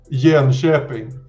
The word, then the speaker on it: Jönköping: How do you pronounce this place that we're going to? Jönköping.